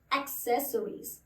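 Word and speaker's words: accessories: next शब्द है ये इस शब्द को लोग अक्सर एसोसिएट बोलते हैं जबकि वो एसेस नहीं होता वो होता है इसे कहते हैं एसेसरीज एसेसरीज एसेसरीज ठीक है अब इसी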